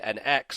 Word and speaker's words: NX: but it's not actually cuz in Japan if it was a cross then he would have said cross cuz that's how they say it he said n x so in Japanese it is an X not a CR it's a whole thing